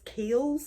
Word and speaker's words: Kiehl's: I don't know if it's Kiehl's. It's Kiehls. That's how you pronounce it.